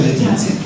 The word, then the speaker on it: laetitia: alegría del amor y en latín es amor se escribe la ya laetitia en latín amoris laetitia pero se pronuncia Leti amoris Pues muy bien Muchísimas